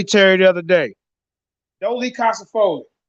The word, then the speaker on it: dolichocephalic: Dolichocephalic.